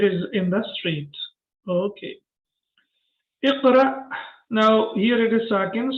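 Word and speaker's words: اقرأ: Iqra. Now here it is sakin. So when Hamza is sakin, we pronounce it with a small jerk.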